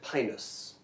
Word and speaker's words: Pinus: Let's talk about, I'm gonna pronounce it Pinus, okay? Yeah. Yeah. Right. Just because No, that's the way. there's this option Way is Pinus.